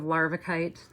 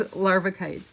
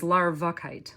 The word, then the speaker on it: larvikite: I've spelled it here, this is how you spell it. Larvikite. But on the tag on the on the strand, it says larvakite, like larvae.